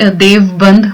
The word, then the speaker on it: Deoband: Actually देवबंद बोला जाता है, बट स्पेलिंग जो है वो DEOBAND देवबंद करके है।